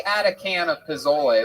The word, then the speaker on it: pozole: No, if you look up chicken, I believe it's Pozole, and it's pronounced pozole for all you fucking gringos out there.